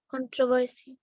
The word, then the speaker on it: controversy: the unstressed syllables and you read the word as controversy it's not controversy controversy because you are stressing on the second syllable here so khan reduce it to the schwa sound so here this is